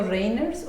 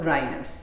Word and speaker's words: Reimers: ¿Lo pronuncio Reimers o lo pronuncio Reiners? No, Reimers. Reimers. Lo españolizamos.